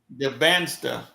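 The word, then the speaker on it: Dybantsa: DeBaster.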